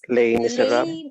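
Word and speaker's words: Les Misérables: Okay, that's we pronounce it actually as Les Miserables.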